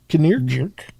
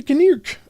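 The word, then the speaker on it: Knirk: K N I R Kirk. It's a Kirk.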